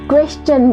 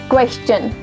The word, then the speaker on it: question: जहाँ पर भी आप STION लगाते हो वहाँ पे शन नहीं होता, शन की जगह वो चन प्रोनाउंस होता है।